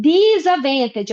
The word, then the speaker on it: disadvantage: Lembrando que disadvantage, eu não falo esse D aqui, ó, igual no Wednesday lá, ó, eu não pronuncio esse D, ok?